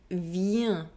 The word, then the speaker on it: vient: This ending ENT is also pronounced un. Il vient.